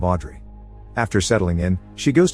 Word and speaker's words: Audrey: Park's house and asks to rent the room they're offering, telling them her name is Oh-do-ri, a mispronunciation of Audrey.